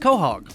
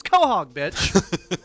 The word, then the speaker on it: Quahog: west the mayor of uh quahog quahog it's pronounced quahog yeah it looks like it should be pronounced quahog but yeah it's quahog it's in uh rhode island